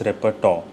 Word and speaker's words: repertoire: Pronunciation is repertoire.